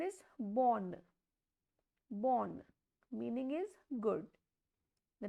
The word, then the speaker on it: bonne: So, when E is at the end, it has no pronunciation.